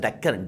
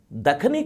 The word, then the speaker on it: Dakhani: all the other regions that is why the khani is a word it is not deccan it is the khani many people pronounce it as deccan deccan it is not deccan it is gets a word which is known as the khani dakhani culture is a